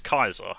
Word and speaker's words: Caesar: Roman Way of life the way they pronounce their C's was closer to a KY so the way the way we describe a Caesar which was like the Roman Emperor they described it as Kaiser and the best way